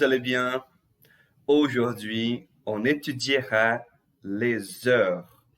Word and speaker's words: les heures: Les heures. O Szinho aqui ligando com a vogal, tá? Com a vogal da palavra heure.